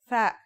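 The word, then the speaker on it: ثاء: Our final letter is tha. That's like the TH in the English word thief.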